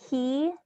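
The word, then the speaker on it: Caye: there what is the bank call it's called key c-a-y-e financial center um or key international bank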